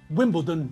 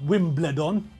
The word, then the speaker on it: Wimbledon: his JCB to Wimbledon that's another than Wimbledon not win bled on boots anyway Michael J